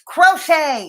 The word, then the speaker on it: crochet: It's crochet. It's pronounced crochet.